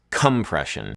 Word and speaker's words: compression: Like the word compression normally has the stress on the second syllable, but listen to how Janelle Monáe sings it in her song Make Me Feel.